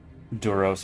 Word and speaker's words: Duros: Doros equals rhymes with Grog.